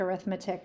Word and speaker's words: arithmetic: mean the arithmetic I know it looks like arithmetic but it's actually pronounced arithmetic it's weird the arithmetic mean um